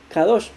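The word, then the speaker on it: קדוש: el lugar k2 sin usar solo se dice kadosh y cuando se utilizaba esa palabra se entendía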